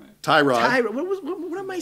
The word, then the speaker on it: Tyrod: You keep saying T-Rod, Ty Mobile Taylor. You keep trying to start it with the wrong T sound. Tyrod, It's Tyrod. T-Mobile Taylor. T-Mobile Taylor. Tyrod T-Mobile Taylor.